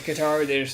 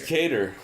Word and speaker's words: Kattar: No, it really is Qatar. It's Kattar. Well, then his family is weird. Because that is phonetically spelled out like Qatar. But well, right, but on the broadcast they keep saying Cater, which includes Anik, and whatever Anik says I'm not going to argue goes.